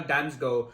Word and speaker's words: Damsgaard: sampdoria for danish winger mikhail damsgo yes that is very much how it's actually pronounced the fee is reported